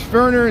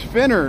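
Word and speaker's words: Fenner: way I roll Pierce ferer and Smith that's a first pierce finner and Smith I got to say it right yeah so you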